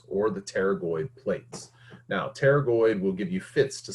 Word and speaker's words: pterygoid: with a p okay the p is silent just like it is in pneumonia we don't say pneumonia okay it's just pneumonia so it's just pterygoid so we have the